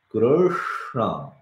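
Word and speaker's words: कृष्ण: Krishna, it comes. Your tongue is like this, right? Krishna, Krishna. So everything goes to the same place to pronounce that.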